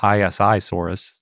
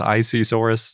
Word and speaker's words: Isisaurus: an it's a abbreviation yep how do you pronounce isi we can't call it isi Soros that would be crazy but in prehistoric Planet they go with icesaurus so that's what we're doing yep I kind